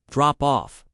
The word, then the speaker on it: drop off: Tip, the stress is on off. Drop off.